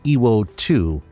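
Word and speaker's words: Iwo To: The new name, Iwo 2, represents the same kanji characters as Iwo Jima, but is pronounced differently.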